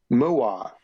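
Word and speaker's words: Ma'at: There's a thing called Muat. Alright? Now it's spelled M-A apostrophe A-T. And you might think, oh, that's Matt. But no, in Egypt it's pronounced Muat. Like a cow saying moo and then I.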